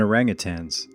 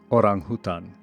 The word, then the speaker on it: orangutan: We share ancestry with chimps, gorillas and orangutans. It's actually pronounced orangutan which means person of the forest in Bahasa Indonesia. orangutan in American But we also share